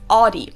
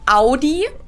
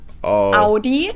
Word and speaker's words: Audi: the comments down below the first one is audi most american i know it i know it but i know pronounce it like i just said it yes in german we say audi audi oh man dude i